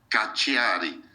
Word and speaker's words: Cacciari: Estos filósofos son Massimo, doble S, y después la C en italiano se pronuncia como CH mexicana, ¿sí? Cacciari. La segunda C es doble C, Cacciari. Cacciari, Massimo Cacciari.